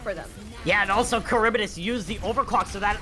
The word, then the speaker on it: Charybdis: So it's pronounced as Charybdis. It should be Charybdis based on history, but yes.